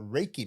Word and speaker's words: Reiki: Ricky Master or Raiki Master is how you actually pronounce it.